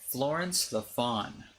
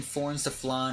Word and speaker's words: Florence the Fawn: Florence the Fawn. I said it right. Okay, there we go. I couldn't say it. I kept saying Florence the Flan or Florence the Flan.